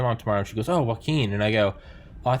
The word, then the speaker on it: Joaquín: is it is it it's joaquin joaquin you know like joaquin phoenix yes oh yeah okay